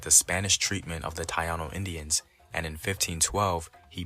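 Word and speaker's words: Taíno: together all right uh it's not tayano it's Taino in case anybody gets confused like what's a tayano more people are more familiar with the traditional pronunciation of Taino okay uh he's gonna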